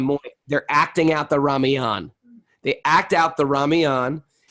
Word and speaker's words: Ramayana: Anyway, these Ram Leela, the Ramayana is, or the Ramayana, I don't know how you pronounce Ramayana. it. Ramayana? Ramayana. I've been calling it Ramayan for years. Thank you for correcting me.